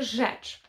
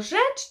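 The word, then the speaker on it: rzecz: Польською це буде жеч. І ми пишемо слово жеч через РЗ. РЗ, Е, ЦЗ, жеч.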